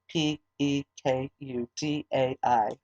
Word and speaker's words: Pekudei: And Vayakhel is Vayakhel, and Pekudei is Pekudai. So just that's how that's spelled.